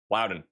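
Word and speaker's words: Loudoun: Lowden County, not London. Louden.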